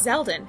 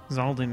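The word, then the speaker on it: Xaldin: that s it's a it's zeldon cuz he's got a spear zalden right right sorry you're right I pronounced it wrong that was definitely wrong oh dear that looks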